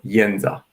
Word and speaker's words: Jedza: So to me, the name, which I hear pronounced as Jedza, well, I think there is no really good or bad way to pronounce it, but it comes naturally to me to call her Jedza.